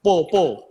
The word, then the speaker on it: pho: Pho makanan, po. Kan pho bacanya.